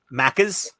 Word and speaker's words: Maccas: McDonald's it's uh I think it's just macas maccas maccas m-a-c-c-a-s that's a that's what they call